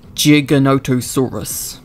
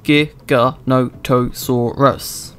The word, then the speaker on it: Giganotosaurus: pronounce its name, with some pronouncing the G at the beginning like a J. Giganotosaurus. As far as I know, the correct way of pronouncing it is Giganotosaurus.